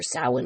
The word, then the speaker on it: Samhain: Those of you who celebrate Samhain, or Samhain is actually how it's technically pronounced, which is basically a